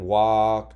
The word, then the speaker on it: walk: with colorful chalk right so just keep in mind walk talk talk they rhyme and because they have the same ending sound and they're spelled the same and they all don't follow the rules okay so I'm gonna